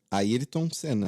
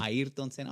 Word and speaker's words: Ayrton Senna: Yeah, You guys Ayrton pronounce Senna. How is it? Ayrton Senna. Ayrton Senna.